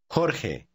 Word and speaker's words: Jorge: The letter J is pronounced the same way. Read word 9. Lejos. Lejos. 10. Juan. Try word 11. It's the name George. Jorge.